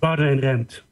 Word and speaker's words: Boudewijn Rempt: And would you go ahead and say your name, because I didn't want to mispronounce it one more time. Boudewijn Rempt.